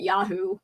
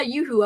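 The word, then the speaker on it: Yoo-hoo: I used to call it yahoo cuz I didn't I didn't know about the pronunciation. And then I think someone was like, "Yeah, yoohoo."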